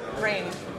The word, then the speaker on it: Rain: want to pronounce sorry rain rain like the weather yeah yeah okay perfect